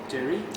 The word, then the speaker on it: Derry: Do I pronounce it correctly? It's Derry? Yeah, Derry, yeah, that's right.